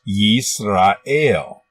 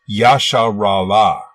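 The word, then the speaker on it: ישראל: as an example in Hebrew this word is pronounced yeast ale but they believe that it was originally pronounced Yasha rawa while there is no evidence to support this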